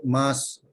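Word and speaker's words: ます: Mas ini walaupun ejaannya MASU, jangan dibunyikan masuk mas aja ya.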